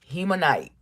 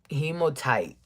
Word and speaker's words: hematite: Hemonite. Hematite. Hematite. Can you see it? Hematite. That's how you spell it.